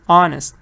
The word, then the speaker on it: honest: It's not important what you see, it's important what you hear. Because I pronounce this honest. اچه ولی واوله. تلفظش مهم. Honest.